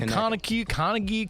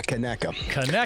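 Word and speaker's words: Conecuh: I was saying Kaneki, Connie, Kaneka. Yeah, Kaneka.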